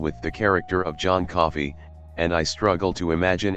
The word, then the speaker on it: Coffey: The giant John Coffey has mental limitations, advising everyone he meets that his name is like the drink only not spelled the same, and crying on his